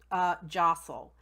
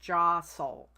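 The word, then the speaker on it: deosil: go something that's called jostle and that's deos IL and it but it's pronounced jostle and that means clockwise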